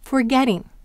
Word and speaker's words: forgetting: Now what happens if we have the word forgetting? Forget plus ing. Where is the accent? Forgetting. It's on get still.